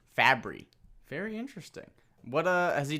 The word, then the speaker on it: Fabry: Fabry.